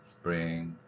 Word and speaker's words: spring: 그러면 거기에서 어떻게 나오냐면 스는 물론 세게 발음할 수도 있지만 뭐 약하게 발음해도 상관없고요 그래서 스프링 프링이 부분이 강한 거죠 프링 그래서 스프링 자